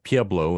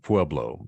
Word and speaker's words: Pueblo: What's especially interesting sometimes is in Colorado, where you have a name that's Spanish derived, but the locals pronounce it differently, like Buena Vista instead of Buena Vista, and Pueblo instead of Pueblo.